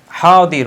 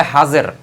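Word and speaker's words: حاضر: বইগুলো লেখা আছে সেগুলোতে ফারসি ভাষায় এই দতের উচ্চারণ হচ্ছে জ এজন্য অনেকে এটাকে ফারসি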